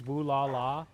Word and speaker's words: Brawlhalla: It's Brawlhalla. Brawlhalla. So you were saying it right, I was saying it wrong.